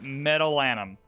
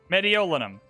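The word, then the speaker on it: Mediolanum: my second archaeological museum in meadowland medeolinum that's how you say it so we just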